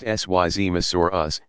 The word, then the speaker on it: Seismosaurus: these dinosaurs were the seismosaurus pronounced sy Zima Soros and supersaurus the seismos